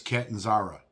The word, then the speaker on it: Catanzara: First of all, Miss Mayor, if you're watching this, the name is Catanzara. Please say it right.